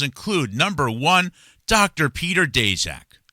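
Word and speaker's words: Daszak: Peter Dejac. Some most people say Dezac. Uh I think he prefers to pronounce Dashac. Whatever. Uh you say tomato. I say Dashac.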